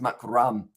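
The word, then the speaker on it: Markram: mac mark mark room i think it's pronounced makaram oh i can't stop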